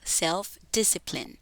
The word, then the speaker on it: self-discipline: En la primera frase que tenemos acá, self-discipline, es muy fácil confundir esta última parte de la palabra y decir self-discipline, pero no es así. Decimos self-discipline. La mayor parte de palabras con más de dos sílabas en inglés, las es que están al final son mudas.